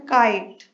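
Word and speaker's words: kite: for example काइट, क आई ट ई silent है, के का साउंड आ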